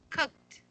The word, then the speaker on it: cooked: Cooked. Cook. Okay, it's not, we use the T sound at the end.